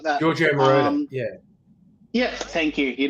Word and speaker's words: Giorgio Moroder: Giorgio Moroder, yeah. Yeah, thank you. You know how to pronounce it right.